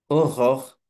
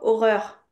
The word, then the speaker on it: Aurore: Aurore, Très bien. Ok, là c'est parfait. Ici, les gens ils disent toujours horreur, horreur, horreur, un truc comme ça. aurore.